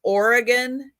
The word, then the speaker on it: Oregon: on the East Coast have any ideas it's Oregon and Nevada how do other people say Nevada